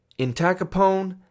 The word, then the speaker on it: entacapone: I think about the American Gangster al capone when I try to remember these drugs and how to pronounce them. Entacapone and tolcapone.